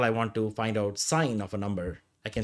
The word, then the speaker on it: sin: a function though it's written as Sin we pronounce a sign trigonometry right yeah and this function is inside